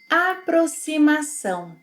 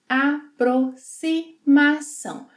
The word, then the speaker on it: Aproximação: Aproximação. Both X and cedilha will have a S sound in this word.